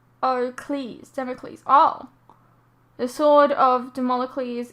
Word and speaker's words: Damocles: Damocles, oh god, is pronounced Damocles.